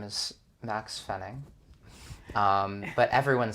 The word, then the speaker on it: Maxx Fenning: a big clap why does everybody spell my name wrong for clarification my name is max fenning um but everyone says it wrong everybody says